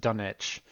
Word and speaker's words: Dunwich: Um, Now the Dunwich Horror, and yes, there is a W, but it is pronounced Dunwich, is It's just about my favorite Elder God, a yes, Yog-Sothoth.